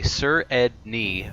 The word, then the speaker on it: Sredni: It's just Sredni. Written out, I tell people, say Sredni really fast. Sredni, and you got it.